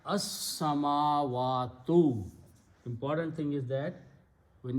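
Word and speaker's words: السماوات: And seen is a shamsi letter. You do not pronounce the lam because of the seen. So you pronounce as-samawatu.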